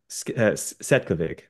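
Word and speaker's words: Cvetkovic: It's Svetkovic or Setkovic. There's no V in there.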